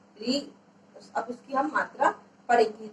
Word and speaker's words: ऋ: जैसे ऋषि जिसको आप बोलते थे ना री, अब उसकी हम मात्रा पढ़ेंगे। री, इसका उच्चारण कैसे होगा?